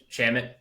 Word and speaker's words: Shamet: Shamet.